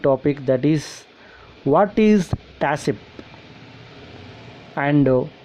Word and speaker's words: TACCP: TACCP means pronounced TASIP.